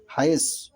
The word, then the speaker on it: হায়েজ: এবং আসমা রাদিয়াল্লাহু হতে বর্ণিত হাদিস, এখানে সোয়াদের পরে হরফ, যেটা ভারতবর্ষ সহ পৃথিবীর মানুষ দাল ধরেছে, কিন্তু সাহাবীরা সেটাকে জ ধরেছে। হায়েজ, সেটা যদি জ না হয় আরবি উচ্চারণে সেটি হবে তাহলে হায়েদ।